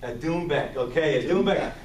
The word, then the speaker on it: doumbek: It's a doumbek. A doumbek, okay, a doumbek. That's actually the Persian name. The Persian name for this drum is doumbek.